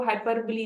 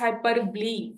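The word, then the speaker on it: hyperbole: Exaggeration को हाइपरब्ली बी कहते हैं। ठीक है? इट्स नॉट हाइपरबो। इट्स हाइपरब्ली ब्ली। ठीक है? जो ओ है ना वो आपके पास साइलेंट है।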